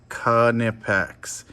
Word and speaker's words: Knipex: and uh as always make sure you say it right kanipex i'm the jacob all